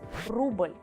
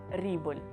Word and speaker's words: рубль: The last sound for today is U, which you actually tend to pronounce like English E sound. So to learn this sound, let's get back to the patriotic examples. Рубль. Don't ever try to pronounce it like рубль.